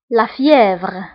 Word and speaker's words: fièvre: فأولا الحمى هي la fièvre, la fièvre, la fièvre.